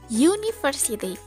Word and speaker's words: university: Tapi ketika diucapkan dalam bahasa Inggris, bunyinya menjadi university. Pengucapan huruf awalnya adalah Y, bukan U, yang mana huruf Y merupakan konsonan sound.